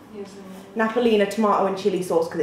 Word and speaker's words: Napolina: How do you pronounce this? Napolina? Yes. Napolina tomato and chili sauce because it's so good and it's only like 80p as well.